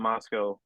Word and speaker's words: Moscow: We call it Moscow up in Moscow. I think it's just because the way they pronounced it when they founded it.